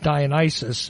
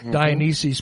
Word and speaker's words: Dionysus: I don't read, and some people might pronounce it Dionysus as opposed to Dionysus, but I don't read